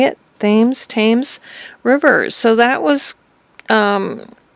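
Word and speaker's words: Thames: tames river is that how they say it tames Rivers so that was um a really sad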